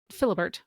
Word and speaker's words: Philibert: So during the French Revolution, there was a man named Philibert, which I don't think is the way you pronounce it in French, but that's how you say it in English, and I'm going to call him Philibert from now on.